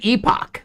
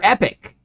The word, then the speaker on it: epoch: yeah it was a corn muffin Epoch or epic depending on how you pronounce that word damn right this was